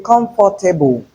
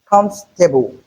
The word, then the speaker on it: comfortable: In comfortable we have three syllables not four. So if you say comfortable you are wrong. The correct pronunciation is comfortable.